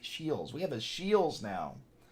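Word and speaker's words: Scheels: want to mispronounce it a Shields s c h e e l apostrophe s I think Shields we have a Shields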